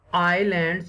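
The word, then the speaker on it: islands: There are many आइलैंड्स, यहाँ पर एस जो है वो साइलेंट है।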